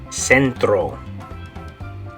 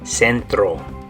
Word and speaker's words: centro: In Spanish, we're going to say centro. Good, so in English it's center. In Spanish you say centro.